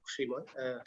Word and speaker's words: Shrimoy: Shrimoy, is that the right pronunciation? Yeah, I believe so. Shrimoy.